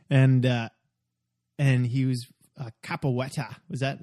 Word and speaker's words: capoeira: of that movie and and he was a kapa Wetty was that how do you pronounce it capoeira yeah where oh yeah yeah the the Brazilian